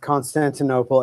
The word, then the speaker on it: Constantinople: sod for a minute first of all it's pronounced Constantinople and secondly begging the question is a fallacy